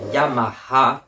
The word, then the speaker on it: Yamaha: le sac Yamaha et on prononce bien Yamaha pour les vrais parce que ça se dit comme ça en japonais c'est tout et puis